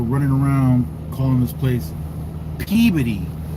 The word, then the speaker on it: Peabody: We're at the pickup in Peody. I don't I don't usually pronounce it that way. It's Peabody as far as I'm concerned.